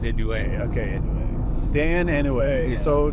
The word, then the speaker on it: Inouye: Inouye, but I think it's pronounced Inouye.